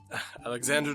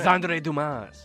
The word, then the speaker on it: Alexandre: Alexander Dumas. No, What's your name? Alexandre Dumas. Say it right.